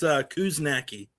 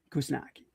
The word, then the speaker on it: Kuzniacki: I wouldn't say you butchered it. It's Kuzniacki. Kuzniacki. Yeah. Oh, okay. All right, Kuzniacki.